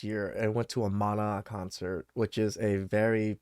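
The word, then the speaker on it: Maná: know who the hell Mana is or Mana that's how they say it and um when I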